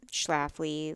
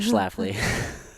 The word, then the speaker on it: Schlafly: people would drop L's, like not get the pronunciation right. But now, people pretty much know Schlafly, at least in St. Louis. Yeah. They know how Yeah. to pronounce it.